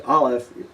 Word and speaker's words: aleph: is very similar to the pronunciation of aleph, but a little different. Those of you that know some of the African dialects will notice a certain similarity. Ayin is ayin, and aleph is aleph.